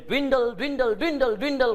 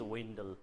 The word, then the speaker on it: dwindle: किन भन्दाखेरि नि धेरै जसोले dwindle भनिराख्नु भएको छ. साइलेन्स गर्नुहोस् डी लाई. अब this D is silence. अब पढ्नुहोस्. सर अब त विन्डल भयो. Yes, correct pronunciation of the word is windle.